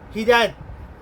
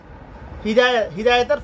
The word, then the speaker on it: হিদায়াত: এটার মধ্যে আছে মুত্তাকিদের জন্য, আল্লাহ বিরুদ্ধের জন্য হিদায়াত। হিদায়াতের পথ আমরা হেদায়েত বলি আর কি। হেদায়েত তো মানুষের নাম, এটা সঠিক উচ্চারণ হিদায়াত।